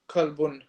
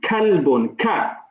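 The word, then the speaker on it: كلب: Sorry, kalbun. Good. Make sure Qamisun. the kaf is pronounced clearly. Kalbun. Kalbun. This is the one from the throat. Yeah, it's the K like we have in English. Ka.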